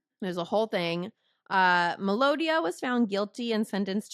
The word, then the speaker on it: Madonia: the kidnapping yeah so Madonia was released from prison in 197 oh yeah I said it wrong again melodia melodia it's melodia so melodia was released